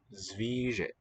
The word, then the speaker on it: zvíře: And this one was Zvíře. E is long.